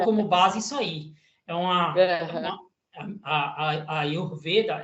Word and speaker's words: Ayurveda: Como é que é a pronúncia? Ayurveda.